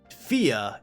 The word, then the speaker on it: Fia: localized as fear because it's pronounced fia in the japanese and i feel like